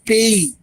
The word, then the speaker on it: pays: और कंट्री को बोलते हैं फ्रेंच में PAYS. पेई. पेई means country. not visible, little bit right, left, right? left, पेई मीन्स कंट्री और जापो मीन्स जापान.